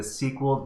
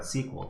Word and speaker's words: SQL: So we're going to be learning about SQL today. So what is SQL or SQL? Some people get very upset if you pronounce SQL SQL.